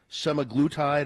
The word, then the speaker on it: semaglutide: It's spelled Daya. And that's but some people for some reason say Zendaya. Yeah. Semaglutide apparently is a one that people screw up all the time.